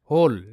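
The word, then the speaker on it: whole: next শব্দ দেখবো আমরা হোল ডবউ এইচ ও এলই হোল তো এখানে কিন্তু ডবলিউ এইচ হো সাউন্ড ক্রিয়েট করবে ও এর সাউন্ড ও তাহলে দুটো মিলেই হো হয়ে যাচ্ছে ঠিক আছে সাউন্ড ওটা ওই থাকবে তো হ আর এলতে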